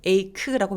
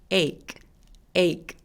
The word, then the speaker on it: ache: 이거 할 때 ache라고 발음하지 않고요. ache. 그래서 K 소리만 살짝 내주세요.